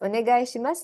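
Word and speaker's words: お願いします: Onegai shimasu is I request you.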